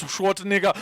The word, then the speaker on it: Schwarzenegger: Oh, it's Schwarzenegger.